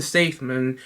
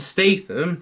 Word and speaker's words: Statham: found it okay and now sequence evolving Jason safeman is that that's how I pronounced his name is it Jason Statham yeah that's how I pronounce his name uh